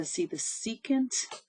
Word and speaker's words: secant: So I see secant. We don't pronounce it sec. The secant, y equals the secant of x.